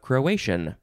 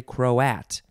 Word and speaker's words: Croat: But it's just the shortened version of Croatian. But you don't say Croatian, you say Croat, because that's how it's spelled.